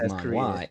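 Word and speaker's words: manhua: This is Manwa. M A N H U A. Man. Okay. Yes. Pronounced the same. Spelled different.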